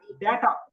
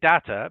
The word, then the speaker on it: data: Data. There are 2 ways to pronounce this, because in American English they say data, but in British English we say data.